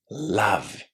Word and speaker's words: love: Love. Love. How is that letter O pronounced inside this word? Did you hear the o sound or the a sound? Listen again. Love. Love. It's the short a sound.